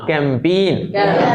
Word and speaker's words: campaign: CAMPIGN, हाँ right, PAI होता है, PAIGN, CAMPAIGN, हाँ कैंपेन। इसमें एक्चुअल में मैं कभी बताया होगा, CAMPAIGN में क्या होता है, ये A और G दोनों साइलेंट रहता है।